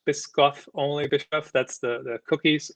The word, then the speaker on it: Biscoff: blog cranky flyer removed for i think it's pronounced biscoff only bishop that's the cookies of course and